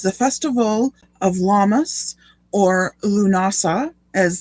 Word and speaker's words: Lughnasadh: festival of llamas or lunasa as that big long word with all the extra h's and d's that don't seem to belong is that's how you pronounce it lunasa um and that's the